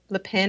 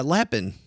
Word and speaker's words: Lapin: I remember reading a book by Nicole Lein. I don't know, Leen. I'm not sure how you pronounce her. Oh, yeah. Yeah. Yeah. Lapin.